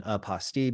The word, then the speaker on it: apostille: I like using the pronunciation apostille because it rhymes with unrestricted fees.